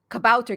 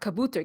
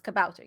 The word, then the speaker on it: Kabouter: They made a point for saying, "Hey, Kabouter Games is pronounced Kabouter Games and not Kabooter Games, because if you say Kabooter Games, that's actually a word meaning dove in Urdu, Oh, I believe. So don't huh. call it Kabooter Games; it's Kabouter Games."